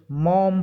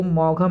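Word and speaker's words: Maugham: WS मॉम पढ़ेंगे इसको, मॉघम नहीं पढ़ेंगे, GH साइलेंट रहेगा यहाँ पे, WH मॉम।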